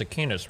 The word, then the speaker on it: Aquinas: But also because of divine revelation, no, it's not Aquinas, it's Aquinas, right? Sorry, I think I always mispronounce his name.